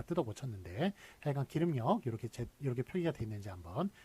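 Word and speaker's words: 길음역: 길음이 아니라는 것, R이라는 것, L이 아니라 R이라는 것, 이거 봐주시고, 예, 하여간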